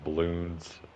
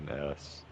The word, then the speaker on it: Bloons: I played another one called Balloons 6. Not balloons, just Bloons.